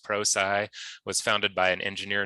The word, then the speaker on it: Prosci: So Prosci, correctly pronounced pro-sigh, was founded by an engineer named Jeff Hyatt.